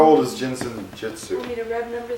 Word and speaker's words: Jin Shin Jyutsu: How do you say this? Jinshin, J-I-N. Jinshin. Is there another word? Jitsu. Jinsen Jitsu.